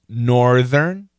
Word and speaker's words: northern: I'm always curious about how to pronounce northern and southern. Yeah, so listen carefully. Funky monkey. Northern, southern. You want to keep that R.